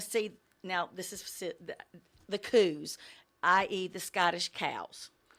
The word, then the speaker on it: coo: The border collies and sheep herding, they'll want to see, now this is the coos, i.e. the Scottish cows. They're pronounced coo, K-O-O.